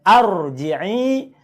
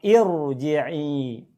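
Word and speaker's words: ارجعي: Berarti contoh pada ayat 28 ini, bacanya bukan arji'i, bukan juga urji'i, tapi bacalah irji'i. Kenapa nggak dibaca ar? Karena kalau A harus ada lam, di sini nggak ada lam.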